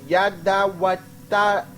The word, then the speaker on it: Jeduthun: So this right here, Yeduthun, is Yadawatawan. Yadawatawan.